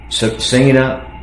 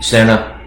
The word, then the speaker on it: Sena: They're brand new and uh I can tell you Sena Senna, I want to pronounce it right. It's probably Senna is by far superior over the edge.